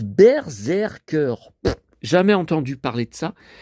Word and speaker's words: Berserker: Alors, ça se prononce Berserker.